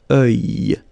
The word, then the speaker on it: œil: Strange combination of vowels here, okay? And then you will get the sound E and then Y. Œil. Alright? And it's masculine, by the way. Un œil.